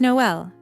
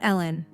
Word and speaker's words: Noel: "Oh, and Patricia, my name is Noel, not Ellen."